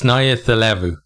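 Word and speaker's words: Nayacalevu: Somebody told me how to pronounce this. It's Nayathilevu.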